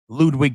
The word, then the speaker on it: Ludwig: And then we see Ludwig Kaiser tries to get in the ring and attack Randy from behind. Ludwig. The W is a V. Not pronounced as Ludwig. Ludwig Kaiser.